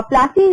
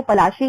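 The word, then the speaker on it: পলাশী: और प्लासी अगर देखा जाए तो प्लासी इनका अंग्रेजी में इन्होंने अनुवाद करा है प्लासी, अदरवाइज इसका हिंदी में एकदम करेक्ट प्रोनाउंसिएशन जो है वो पलाशी है।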